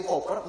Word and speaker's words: Cowper: Salah satu di dalam sejarah, William Cowper, ya, bacanya Cowper itu saudara sekalian.